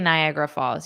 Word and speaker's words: Niagara: it is absolutely breathtaking oh but you didn't say Niagara Falls you said Nicaragua Falls I saw the nigh and because Niagara Falls is near me that's what I saw but it's not is Nicaragua Falls I have not been